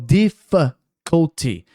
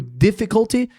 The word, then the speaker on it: difficulty: Eh, teve um cara falando bem devagar assim no vídeo falando difficulty. E a gente não imagina, né, que o difficulty ao invés de difficulty, as pessoas falam difficulty, assim como family, né?